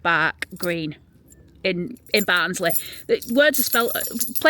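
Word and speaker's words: Barugh Green: So his brother-in-law and his sister, they lived up in a place called Barag Green. So it's pronounced Bark Green in in Barnsley.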